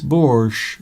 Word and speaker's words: borscht: Yes, borscht.